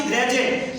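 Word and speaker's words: graduate: इसी प्रकार से जी आर ए डी यू ए एल, डी के बाद में यू ए एल आता है फिर भी डी का उच्चारण क्या हो जाता है, जा हो जाता है।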